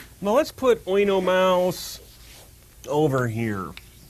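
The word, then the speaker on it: Oenomaus: Mouse now let's put oo Mouse over here actually it's O that um over the U does not mean that he is a heavy metal band it means that they're to be pronounced separately his name in ancient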